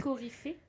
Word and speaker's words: coryphée: Coryphée, un chef de chœur dans les pièces de théâtre antiques. Ok, bah voilà, donc on est dedans. On est dans le lien avec la musique. Ça se prononce coryphée ?